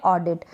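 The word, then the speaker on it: audit: easily पढ़ लेंगे कि शुरू में अगर ए यू आ रहा है तो यहां पर अ पढ़ रहे हैं हम इसको ठीक है फिर यह ड है डी बन गया ड का और फिर क्या है यह आई आई छोटी ई के रूप में हो गया और फिर क्या है ट ट के लिए टी लगा दिया यहां पर ये हो गया ऑडिट तो एक दो स्पेलिंग्स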